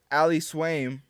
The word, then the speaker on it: Swain: Ali Swain, I think I always mispronounce all these names. Ali Swain is not Swain, really, but you call it whatever you want.